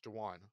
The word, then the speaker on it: Juwan: McLeod or a wand Juwan Jennings Juwan that's how the proper pronunciate I'm not chasing any